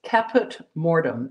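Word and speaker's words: Caput Mortuum: And I better look at the stick of pastel, otherwise I may misspell it. It's Caput Mortem, and it's C-A-P-U-T, and then a separate word, M-O-R-T-U-U-M.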